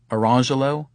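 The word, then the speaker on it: Orangejello: Or consider the twin boys, Orange Jello and Lemon Jello, also black, whose parents further dignify their choice by instituting this pronunciation, Orangelo and Lamangelo.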